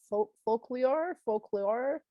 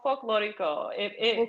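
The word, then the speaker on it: folklórico: Is it called a folklore? Is that it's called folklorico. Which is like it's like Spanish for like folk dancing. Oh, beautiful.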